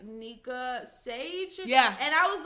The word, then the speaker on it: Nyeka: Because a lot of people be thinking I'm saying Mika. It's Nyeka. No, I'm playing. It's Nyeka. Nyeka. Nyeka. It's not a Tanika, Shanika, Wakika. It's just Nyeka.